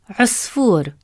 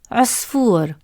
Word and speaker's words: عصفور: as in the word عصفور, which means little bird. Round your lips to make the short عو sound. Repeat after me. عو, عصفور, عو, عصفور.